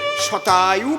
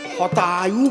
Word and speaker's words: শতায়ু: তাই সংস্কৃতে শতায়ু ভব মানে 100 বৎসর আয়ু হোক, এর সংস্কৃত কি? শতায়ু ভব বৎস। ওনার তো স্ব উচ্চারণ হয় না, উনি বলেছেন হতায়ু ভব বৎস।